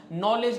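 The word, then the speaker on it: knowledge: पे साइलेंट होता है नॉलेज नॉलेज में के साइलेंट होता है बहुत सारे ऐसे वर्ड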